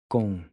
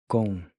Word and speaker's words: com: Then the C is pronounced like the C in Bronco or Bianca in English.